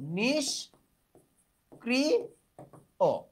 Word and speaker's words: নিষ্ক্রিয়: নিষ ক্রি ও এইটা হলো নিষ্ক্রিয় সঠিক রূপ। তাহলে সঠিক উত্তর উচ্চারণ নয়।